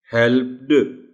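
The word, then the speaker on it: helped: हेल्प्ड, वो flow disturb होती. Hence the word will be pronounced as हेल्प्ड. आखिर में टी की आवाज हल्की सी पैदा होती है.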